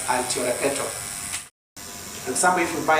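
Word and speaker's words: altiora peto: It's pronounced as altio repeto.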